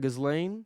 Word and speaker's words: Ghislaine: Also, how do you pronounce the name? I know Maxwell, but Yeah, Gazelle Maxwell, something just like that. Ghislaine, Ghislaine, yeah.